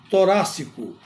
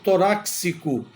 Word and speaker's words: torácico: é a palavra torácico tem gente que pronuncia toráxico ou seja e porque a palavra é acentuada na letra A porque esta palavra é proparoxítona então toda proparoxítona é acentuada e essa forma de pronunciar toráxico ela é inadequada não existe a caixa torácica protege os pulmões e o coração mas aí a pronúncia tem que ser com a letra C outra palavra beneficiente a